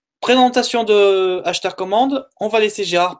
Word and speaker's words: Asthar: Ashtar, d'abord, on le voit écrit A-S-H-T-A-R sur le net, en fait. Le nom de ce groupe est A-S-T-H-A-R, Ashtar, ça se prononce de la même façon.